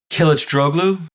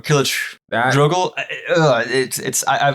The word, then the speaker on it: Kılıçdaroğlu: Kemal Kılıçdaroğlu or Kılıçdaroğlu. I learned how a much better version of the pronunciation.